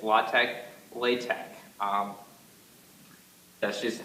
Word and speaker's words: LaTeX: spelled l ex word of viice do not pronounce it that ex it's not latex it's latch latch um that's just how it's officially pronounced